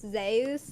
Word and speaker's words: Zeus: Uh, that I found out that Zeus is actually pronounced Zus in current Greek.